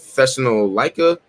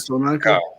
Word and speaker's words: Thessalonica: I can never pronounce this church name right, but Thessalonica it is. Thessalonica.